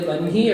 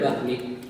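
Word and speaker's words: वह्नि: You can pronounce the ha either first or second. You must write it first, but you can say Brahma or Brahma. You can say Vanhi or Vahni.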